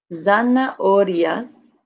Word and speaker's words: zanahorias: Zanahorias, but when you say it quickly, zanahorias. Zanahorias. You kind of drop out that second A there.